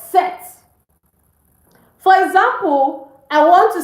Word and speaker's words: cet: We use C-E-T, it's pronounced set.